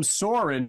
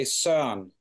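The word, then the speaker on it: Søren: talking off the air your name saurin is how Americans would pronounce your name but how would your name be pronounced back home oh that it's it's a tricky one you say s song s song s like sing a song yeah almost almost yeah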